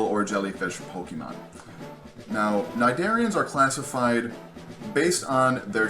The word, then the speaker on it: Cnidaria: lot of credit but even though there is AC at the beginning of this word it is not pronounced whatsoever this is called phylum Cnidaria cnidarians are generally pretty